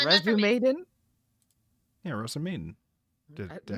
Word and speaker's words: Rozen Maiden: Yeah, Rozen Maiden. Did I You say said it wrong? Resume Maiden.